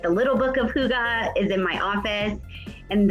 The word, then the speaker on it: hygge: i first heard about hygge i know it's not spelled like that so it's super weird to say i used to call it the hyge life because i didn't know so i bought books